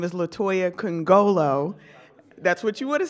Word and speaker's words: Nkongolo: do not know me my name is Latoya can go low that's what you would have said C you